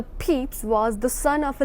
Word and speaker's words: Pepys: Samuel Pepys, it normally pronounced the Pepys, was the son of a London tailor.